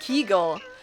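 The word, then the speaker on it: Kegel: Kegles. Is that how you pronounce that? A kegle. Keigle. It's pronounced keigull is a pelvic floor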